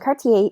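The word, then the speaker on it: quartier: on Cartier yeah and Cartier is a neighborhood all right the qu at the beginning of the word is pronounced like a like a K sound okay almost always in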